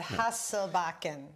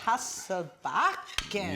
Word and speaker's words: Hasselbacken: And you're like, well, that's what we just said, Hasselbacken. But, oh no, Hasselbacken.